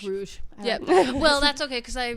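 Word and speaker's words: Bruges: how to pronounce it BR in Belgium Bru like Rouge like brou well that's okay because I WR I read it as like Rogue so I was like brogue no brogue no BR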